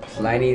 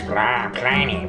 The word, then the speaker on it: Pliny: check this beer out this was plainy the Elder if I'm pronouncing it wrong please correct me I know there's going to be beer snobs out there like no it's plany plany plany you got to say plany whatever anyway yes check